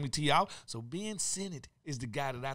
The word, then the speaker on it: Sinnott: I'm going to go Ben Sinnott.